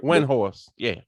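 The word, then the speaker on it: Windhorst: That one I did not get, but like there's this ESPN reporter Brian, I can't pronounce his last name. It's a Windhorse.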